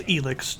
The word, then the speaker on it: ELEX: this is elix too i actually thought it was alex until they heard the pronounce it in game sorry anyway uh elix